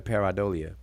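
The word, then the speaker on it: pareidolia: you all heard it peridolia let me make sure because that's a little weird pronunciation peridolia oh paradolia all right this one's pronounced in a paradolia but okay i was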